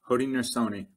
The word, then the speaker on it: Haudenosaunee: Haudenosaunee. Haudenosaunee Confederacy.